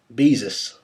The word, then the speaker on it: Beezus: My name is pronounced like Jesus, but Beezus. Okay, Beezus.